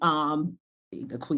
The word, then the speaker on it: Akua: I thought, for the record, like the pronunciation Akua isn't incorrect. Like there are certain parts of the country that pronounce in certain groups of people that pronounce it Akua, and Akua is another pronunciation.